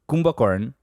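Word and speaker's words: Kumbhakarna: Kumbhakarn, which is Kumbhakarn, yes, yeah. That's a Bengali pronunciation.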